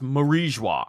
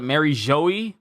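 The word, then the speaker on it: Mary Geoise: I'm thinking it's marija it's supposed to sound French it is supposed to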